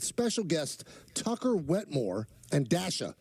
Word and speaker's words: Dasha: guests Tucker Wetmore and Dasha. Now, I'm not mispronouncing that. It's D-A-S-H-A.